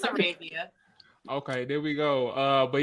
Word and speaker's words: Arabia: Right pronunciation, wrong language. But yeah, it's Arabia.